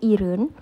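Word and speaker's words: 일흔: Kalau 20 itu kosakatanya semul, 30 soren, 40 mahen, 50 sinin, 60 yesun, 70 iren, bukan ilhen ya bacanya, tapi iren, 80 yoden, 90 ahen,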